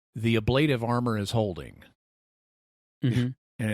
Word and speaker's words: ablative: And Dax says the ablative armor is holding, and it's like, okay, I know you're an actress, not a linguist, but the word is pronounced ablative.